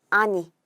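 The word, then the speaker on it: 兄: 할까요 형이나 오빠 를 나타낼 때는 요 않다 쓰고 아니 라고 읽어 주게 됩니다 아니 가 되고 여기에 딱 아 아우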